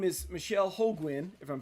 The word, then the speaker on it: Holguin: Yes, and thanks for pronouncing that last name correctly because I do get Ho- quite often. Holguin, we were talking about that, how our names get mispronounced all the time.